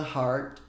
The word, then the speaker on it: heart: É meio que uma mistura de A com O agudo, assim.